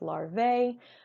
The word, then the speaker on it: larva: Okay, this is not pronounced larvae. However, the AE on the end there is the Latin spelling. So you could, maybe just see LARVA, but it's still pronounced larva.